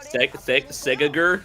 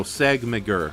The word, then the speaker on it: Segmeger: Segagur? No, Segmagur. I'm saying it correctly. It's Segmeger.